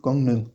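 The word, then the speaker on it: 강릉: Comme par exemple le nom de la ville de Gangneung.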